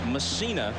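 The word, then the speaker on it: Mussina: And Msina is the way he prefers to have it pronounced.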